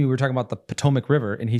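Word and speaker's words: Potomac: what he's saying because he'll be reading a word and pronouncing it the way it's spelled yeah like uh he came to we were talking about the Potomic River and he said pmac you know and it's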